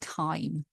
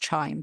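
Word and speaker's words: chyme: So the hydrochloric acid is now called kime. This mixture that's in the stomach I know it looks like it's pronounced chime but it's not.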